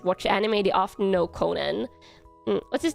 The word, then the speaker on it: Conan: I pronounce his name like Conan the Barbarian. Yeah, Conan. I could say Conan, which is more how they pronounce it um in in Japan.